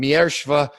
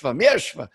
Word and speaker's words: Mierzwa: better than i do i don't really know how to say my name miershva is what old catholic nuns used to hit me with say yeshva and and i'm told